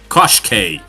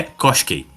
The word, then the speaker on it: Koshchei: ver que a a se escreve cochi, mas você tem que pronunciar como cose.